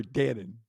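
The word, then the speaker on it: Dannen: uh that Troy Troy Dann it's not spelled like the yogurt but it is pronounced like the yogurt Troy Dan is this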